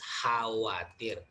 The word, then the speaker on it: khawatir: Remember in bahasa Indonesia, even though there is K here, letter K, but it is not pronounced. So we pronounce khawatir.